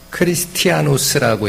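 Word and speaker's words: Χριστιανός: 이게 이제 그대로 읽으면요, 크리스티아노스라고 읽습니다.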